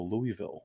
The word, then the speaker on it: Louisville: say that I'm like no Louisville it's it's a it's a Louisville Slugger it's named after King Louie like um the other